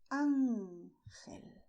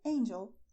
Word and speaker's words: ángel: In Spanish, we say ángel, ángel, because you see here, this symbol is telling us to stress ángel. Ángel, angel.